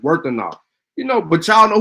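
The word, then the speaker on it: Wuthenau: Yeah, you're right. It is pronounced Worthenau.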